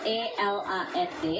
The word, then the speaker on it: eland: Ini namanya eland. Ejaannya ELAND, dibaca eland.